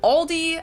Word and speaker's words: Aldi: Add an S that isn't there in the end and say Aldis. In Germany, we just say Aldi.